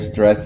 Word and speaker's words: stressed: now keep in mind when you use the word stress and past tense it's it's stressed so it's stress so you don't say the ed's apart okay all right hello